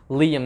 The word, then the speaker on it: Liam: to know that his real name is is pronounced liam not lying from the clash of clans trailer if you've